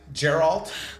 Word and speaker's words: Geralt: God knows what else geralt I never said Gerald actually I used to say